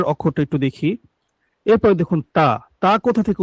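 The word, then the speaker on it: ت: এরপরে দেখুন তা কোথা থেকে উচ্চারণ হয়?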